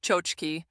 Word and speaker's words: tchotchke: A tchotchke, pronounced chochki, is a Yiddish word for a small, cheap, decorative trinket.